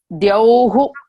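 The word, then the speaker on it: dyauḥ: There is a word called dyau. Dyau is the space. Dyauhu, that is au. That is how you have to pronounce all this.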